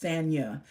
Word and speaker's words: Sanya: It's pronounced Sanya. Oh, Sanya. Like, okay, wonderful, wonderful. Awesome. Sanya. Beautiful name, Sanya. Almost sounds like my name, Tanya.